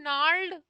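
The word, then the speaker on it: gnarled: याद आ रहा है नाड जिसमें मैंने बार-बार कहा था कि जी साइलेंट है जैसे आपने बहुत पुराने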